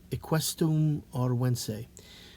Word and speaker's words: Equisetum arvense: Equisetum arvense. That's how you pronounce it.